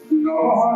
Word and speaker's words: নমঃ: অর্থের পর্যায়ে তারপর ধরুন এই যে বিসর্গ উচ্চারণ না করি তাহলে তার অর্থ পাল্টে যায় আমরা জানি যে নমঃ শব্দে কৃষ্ণায় নমঃ ইত্যাদি নমহ না বললে নমঃ বলি নম একটি